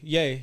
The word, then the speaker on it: Ye: we gotta talk about they ye sorry yay yay yay let me make sure I say it right they dropped the interview